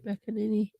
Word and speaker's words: McEnany: But Kayleigh McEnany, that's how you say her name. McEnany.